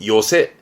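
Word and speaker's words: 寄席: 가장 가까운 역, 모요리노 에끼처럼 발음도 중요하고 뜻도 중요하고 시험 때 종종 보입니다. 좌석의 석자죠. 새끼의 새만 씁니다. 그래서 지금은 요새 합니다.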